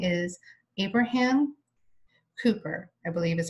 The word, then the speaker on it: Kuyper: His name is pronounced Abraham Kuyper.